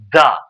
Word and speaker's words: the: এই যে টিজি আছে এই যে ওয়ার্ডটা এটার উচ্চারণ কি হবে দা ওকে তাহলে অক্স দা ফ্রক যদি কোন ওয়ার্ড